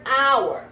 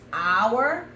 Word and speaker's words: hour: But if I use the word hour, pay attention to this. This is important. If I use hour, my flight takes off in 1 hour, right? That H is silent. You hear the O?